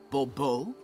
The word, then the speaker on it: Bobo: the book the emphasis falls on the last syllable Bobo mm-hmm see now I'd